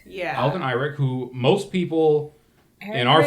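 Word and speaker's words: Alden Ehrenreich: Sid's son, Eddie, is played by, I don't know how to pronounce this man's name, Is it Alrin? I think it's Alden Einrich. Yeah. Alden Eyrick, who most people in our friend group would know from Solo, The titular Solo.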